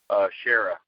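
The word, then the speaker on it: Kära: Shara. It's spelled with a K, A with 2 dots over it, R and an A.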